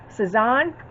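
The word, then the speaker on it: Sazón: The spice that I use, if I'm pronouncing this right, is Sazon.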